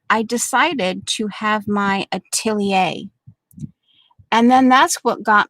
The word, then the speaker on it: atelier: the the life of a an apprentice to atelier and then i went over because um i couldn't quite grasp the pronunciation of it the way they were saying